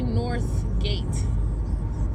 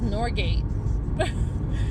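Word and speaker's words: Northgate: It's actually North Gate, but nobody pronounces it like that. It's just Norgate.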